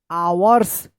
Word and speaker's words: hours: इसको पढ़ेंगे आवर्स। क्या पढ़ेंगे? आवर्स। यहां पे भी एच का उच्चारण नहीं हो रहा है, यानी एच साइलेंट है।